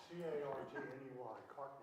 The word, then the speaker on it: Cartney: C-A-R-T-N-E-Y, Cartney. Cardney.